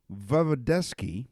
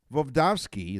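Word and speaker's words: Voevodsky: Vovdovsky is his name, because I mispronounced it the first time, studied the effects of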